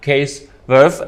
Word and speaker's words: Cees Werff: This is NRCC Business Talk in this situation, and today we have Cees Werff. Am I pronouncing it right?